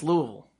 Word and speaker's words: Louisville: You have to say it with as little enunciation as possible.